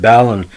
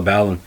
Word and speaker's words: Balon: out for me with ballon well some people pronounce it balloon but i call it ballon he was scoring goals